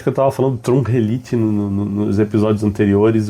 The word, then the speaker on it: Trungelliti: principalmente sobre o cara, deixa eu conferir na ATP a pronúncia para não assassinar o nome do cidadão do começo ao fim do do do podcast. E é Trum Elite.